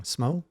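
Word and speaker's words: Smough: Yeah, actually, I'd have to say after the Ornstein and I'm keep saying it wrong, Smo.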